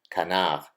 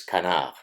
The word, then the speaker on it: canard: that oh you mispronounced canav it's Canard that's because it's a French word so the proper pronunciation is Kan that morality is outside